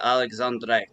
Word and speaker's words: Alexandre: is it alexander or alexandre no i i i'm uh first uh the way to pronounce it in french that don't pronounce the e in a way because alexandre it's more